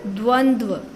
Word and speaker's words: द्वंद्व: इसको बोला जाता है बेटा द्वंद्व, इसकी प्रोनाउंसिएशन ठीक से करना आप, द्वंद्व।